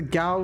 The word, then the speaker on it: Gauss: I believe the Gauss rifle is pronounced as in rhyme with cow. Yeah, Gauss rifle.